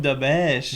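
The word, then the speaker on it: Dobeš: Oh, Jacob Dobèche. Jacob, ça se prononce. Et Dobèche. Ouais, Dobèche, c'est bon à savoir.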